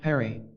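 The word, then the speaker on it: Phari: of Lassa there is a village called fagre that name being pronounced Perry I explained that my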